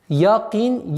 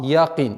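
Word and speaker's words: يقين: И мы, распространенная ошибка совершается, звук «я» произносится с отголоском «а», «якин». Нет, нужно обращать внимание, чтобы она оставалась мягким звуком «якин».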